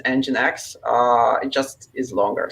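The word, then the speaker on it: nginx: always thought it was engine x but i guess it's is it enjinks uh probably i think the correct pronunciation is engine x uh it just is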